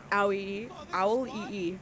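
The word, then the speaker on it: Auliʻi: As somebody who, Owl-E-E. Okay, thank you, Carly. I'm very bad with pronouncing names.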